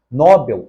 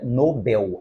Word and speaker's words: Nobel: correta mas no final nóbel não é paroxítona o correto é Nobel a palavra oxítona na letra B recé